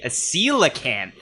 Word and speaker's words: coelacanth: It is the coelacanth, which is... Oh, that's how you say it. Yes, Tuong mispronounced it earlier in the show. I'm sorry. Is it coelacanth?